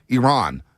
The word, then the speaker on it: Iran: a big game Iran it's Iran not Iran everybody Iran as that uh Iranian journalists uh checked one of the USA players said it's not Iran it's Iran we always get our country mispronounced okay Iran we got you